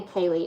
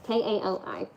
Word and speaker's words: Kali: Because to be fair, if people look at my name, they say Kaylee. It's not Kaylee, it's Callie. It's Kali.